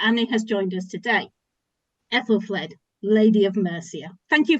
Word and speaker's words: Aethelflaed: And it is to talk about one particular Anglo-Saxon woman that Annie has joined us today, Aethelflaed, Lady of Mercia.